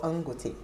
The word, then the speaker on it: Dangote: It's actually called Angote to increase. It's called what? Yes, the D is silent.